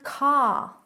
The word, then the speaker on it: car: And car. Car. Car. They'll roll the R, but in British English, car. Car. No R sound at all.